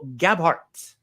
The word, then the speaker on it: Gabhart: And we are joined today by Kyle Gabhart.